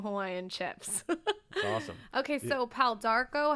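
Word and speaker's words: pau d'arco: and his jalapeno hawaiian chips awesome okay so pal d'arco how do you say the first one again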